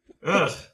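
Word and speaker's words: Aordh: How do you pronounce that again? Urk. So the DH is some sort of is it?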